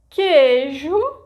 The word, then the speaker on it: queijo: Did you know that in those cases I didn't pronounce the vogal U? So, that's the rule. In general, when there is a syllable formed by gi, ge, ki, ke, the vogal U disappears phonetically.